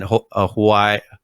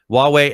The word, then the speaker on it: Huawei: them uh with them on this and then hawaii hawaii is a way way is now it is that's it i'm sorry i'm trying to get the pronunciation right huawei and then intel and niantic um but china